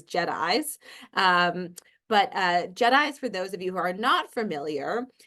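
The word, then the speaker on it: JITAI: And I'll start first just at a high level with just-in-time adaptive interventions and start very high with how we pronounce it, which is JEDIs.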